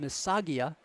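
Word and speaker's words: Missaga: there by Andre Mia m i SS a g a I believe that's pronounced msaga what a look for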